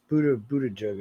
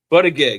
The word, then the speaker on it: Buttigieg: Yeah, but no one can pronounce his name. Yeah. Well, I always call him Butterbud, but it's Buttigieg or some shit.